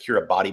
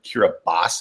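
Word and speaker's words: Kiribati: spelled k i r i bi TI people pronounce it cir body but it's really curas and again it's one of these weird pronunciation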